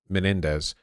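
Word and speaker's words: Menéndez: Andre Menendez Menendez men what is a what do an accent over the e mean so it's like me and then what what what is the what what would this mean pronunciation wise Menendez stress Menendez Menendez just emphasis okay just emphas so like Menendez is this all you're going to talk about pronunciation no we're talking about peronism Accents in Spanish is show where the emphasis is uh where the emphas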